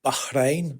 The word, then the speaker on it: Bahrain: So I've just come back from Bahrain, as I know it's meant to be pronounced.